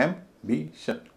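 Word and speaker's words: ambition: हालांकि इसमें कुछ अपवाद भी है जैसे एंबिशन एम्बिशन तीन सिलेबल है पहला सिलेबल एम बोला जा रहा है एंबिशन नहीं बोला जा रहा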